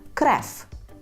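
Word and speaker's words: krew: як ми скажемо кров ми польською вимовляємо крев крев тут до речі Зверніть увагу що в кінці ми маємо букву в так крев ніби але ви вона вимовляється кф креф креф як польською скажемо лікування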